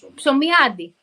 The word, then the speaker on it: Psomiadi: I am the worst at pronouncing names. How do you say your last name? My name, Psomiadi. Psomiadi.